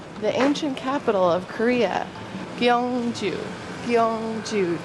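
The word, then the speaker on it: Gyeongju: this is K so whenever it's a gy it's like k k with a little spice on it at least that's what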